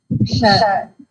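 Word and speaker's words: क्ष: The Ksha consonant is not there, no? How we are doing this? Ksha.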